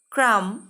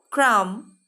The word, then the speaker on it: crumb: MBৰে শেষ হোৱা শব্দৰ বিটো silent letter, মানে বিটো মনে মনে থাকে। আমি বিটো উচ্চাৰণ নকৰাকৈ এই শব্দকেইটা ক'ব লাগিব। thumb, dumb, crumb, numb. Say again. Thumb, dumb, crumb, numb.